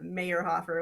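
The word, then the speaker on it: Mayrhofer: i see um but it was easier than mayor hoffer which is my maiden name so oh now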